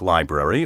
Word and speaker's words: library: educated or very young remember there is no berry in library now for something irrelevant